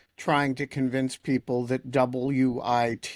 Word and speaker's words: WIT: to convince people that WIT is pronounced wit, not white or We saw this with Ben Weisner.